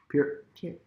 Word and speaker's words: Peart: Peart. Always think of the ear.